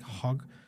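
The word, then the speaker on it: Hauk: to say it but it's like hog the h a u k spiritual gifts inventory oh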